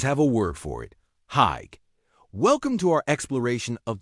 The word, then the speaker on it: hygge: First things first, how do you even pronounce Hygge? It's Hygge.